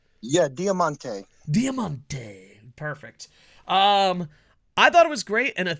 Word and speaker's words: Diamante: the type of guy that knows how to pronounced Demonte yeah Diamante Diamante perfect um I thought it was great